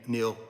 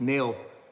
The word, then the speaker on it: Nell: Big thank you, Neil. Big thank you, Nell. I don't know why I keep wanting to say Neil. It's Nell.